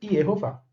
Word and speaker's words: Yehováh: Se você tem um tetragrama com consoantes, as vogais seriam E, O, A, ou Shiva, Roland, Kamatz. E, O, A. Portanto, a pronúncia Yehová.